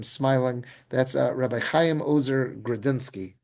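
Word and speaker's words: Grodzinski: That's Rabbi Chaim Ozer Grudziński, or some people pronounce it in the Polish Grzinski, like more of that DZ mix, the Grzinski.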